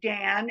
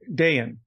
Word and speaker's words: Dayan: some people pronounce it Dan and some people pronounce it Dayan. So which do you prefer? Oh, Dayan. Day in, day out.